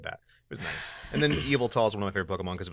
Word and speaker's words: Yveltal: yeah he was which no one ever knows how to pronounce it they're always like evil tool belt all because of you but like other people say weird stuff like your Bible tall yeah it's like Harry